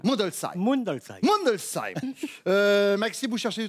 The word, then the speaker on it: Mundolsheim: Je vais me lancer dans la prononciation de cette ville alsacienne parce qu'il faut que je m'y mette petit à petit. Mundolsheim. Non. Non. J'avais une chance sur deux. Alors on dit comment ? Mundolsheim.